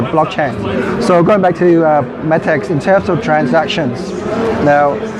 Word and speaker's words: Metex: How do you pronounce it? Metex or Metex? Metex.